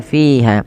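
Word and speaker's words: فيها: Qi ulqiya fiha. Ya. Ulqia fiha. Kasrah. Disempurnakan kasrahnya. Kemudian pada lafal fiha fa hati-hati jangan dibaca fiha. Jangan dibaca dengan P tapi dengan F ya.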